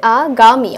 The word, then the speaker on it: আগামী: যেমন আগামী কি হয়ে যাচ্ছে, আগামী, অর্থাৎ উচ্চারণটা আগামীর মতোই, শুধু দীর্ঘিকারটা রস্যিকারের মতো উচ্চারণ হবে।